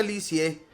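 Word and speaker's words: Lisieux: a un pueblo llamado liux se pronuncia licie por eso la llamarán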